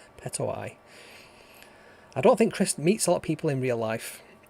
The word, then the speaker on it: Petoi: Petoi, that's it. It's how you pronounce the name. I always think it's Pet-I-O, Petoi.